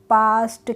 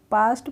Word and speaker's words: past: पास्ट। कैसे पढ़ेंगे इसको? हम पास्ट पढ़ेंगे, पेस्ट या पेस्ट नहीं पढ़ेंगे, पास्ट पढ़ लेंगे।